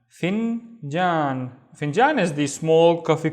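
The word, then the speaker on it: فنجان: The first syllable is fin. We have the fa with the kasra. And then jan. Finjan.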